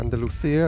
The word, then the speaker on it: Andalusia: Andalusia, or Andalusia as it's pronounced locally.